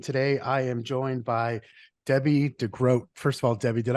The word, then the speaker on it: Debbie De Grote: agents podcast and today I am joined by Debbie degroat first of all Debbie did I pronounce that correctly you did yeah well uh